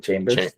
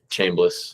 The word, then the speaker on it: Chambliss: Chambers. Chambliss.